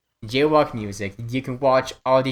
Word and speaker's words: JWOK MUZIK: I don't know the exact channel link, but the channel name is JWOK Music, but it's spelled really stupid because I was like 12 or 13 when I made it. So it's JWOK MUZIK. JWOK Music.